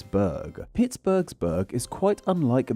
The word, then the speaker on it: burgh: eat it too as the city's name uses the bur spelling but is instead pronounced as Berg that H really should not be there yet for a variety